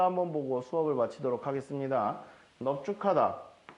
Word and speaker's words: 넙죽하다: 일단 비읍으로 갑니다. 여기선 비읍으로 한 대 쓰니까. 자, 비읍이 지읍 만났다. 기역, 디귿, 비읍이 가다 부수자 만났다. 너 쭉이야. 그런데 이 기역으로 해야 되는데 우리가 뒤에서 배울 기역과 히읗이 만나면 축약, 합체가 일어나줘야 됩니다. 그래서 넙죽, 카다라고 발음을 해주게 됩니다.